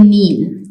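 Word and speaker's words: kneel: में W silent है के इन नील जैसे कि नील में के साइलेंट है एच इन ऑनेस्ट ऑनेस्ट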